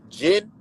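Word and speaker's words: gin: that's what I'm saying so Jin the drink right yeah it's g-i-n but Jin and uh Jin and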